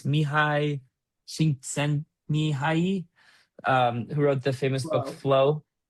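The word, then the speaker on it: Mihaly Csikszentmihalyi: try to pronounce, or I could try to pronounce the name. It's Mihai Csikszentmihalyi, who wrote the famous book Wow.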